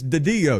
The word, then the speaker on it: DiDio: So it's DiDio. You got to put a little marinara sauce on it. DiDio.